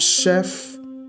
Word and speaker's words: chef: if you're not careful you may concentrate on the the letters okay which is CH and CH and you may get the answer wrong so here we are not looking for Chef we are looking for Chef so CH cannot be our answer okay that one is CH and this one is sh sh okay and that one